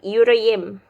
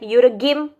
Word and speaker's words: yüreğim: So before yumuşak G, if there is a letter there, you need to pronounce it longer. Yeah, and you don't need to say the G.